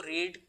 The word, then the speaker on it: read: है, READ और READ, लेकिन जब हम इसको प्रोनाउंस करते हैं तो इसको यानी फर्स्ट फॉर्म को, बेस फॉर्म को पढ़ा जाता है या प्रोनाउंस किया जाता है रीड, लेकिन सेकंड फॉर्म को